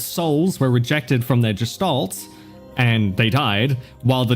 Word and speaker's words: Gestalt: of people and Oh, Gestalt. Gotcha. Okay. Yeah, it was I I always say either Gestalt or Gestalt. Good to know. It's Gestalt.